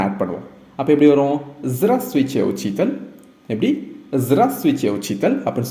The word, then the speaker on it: здравствуйте: இங்கிலீஷில் நம்ம ஹலோன்னு சொல்கிறோம்ல, அதுக்கு நிகரான ஒரு வேர்டு தான் zdravствуйте.